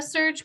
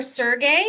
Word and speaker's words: Serge: bert colbert serge serge a man named serge or sergey maybe spell it s-e-r-g-e that's sergey could be either certain it's sergey um mr uh sergey or serge colbert please although if i